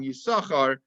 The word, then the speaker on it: Issachar: private and that's why the second sin in usakar is silent that's uh that's what